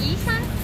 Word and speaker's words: Isan: Do you know how to pronounce Isan?